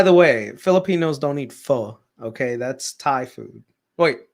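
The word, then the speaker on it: pho: vacation we'll get some f um so yeah it sounds like foe or it's spelled like foe but it's not foe it's F you know so this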